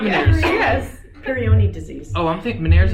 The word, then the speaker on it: Peyronie: Peyronie disease. Oh, I'm thinking Meniere's is the ear. The ear, yeah. How do you pronounce that again? Peyronie.